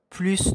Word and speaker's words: plus: fruits que le premier donc la prononciation des plus donc plus haut on a plus de fruits donc on a il s'agit de de la quantité donc prononce le S d'accord on dit le palmier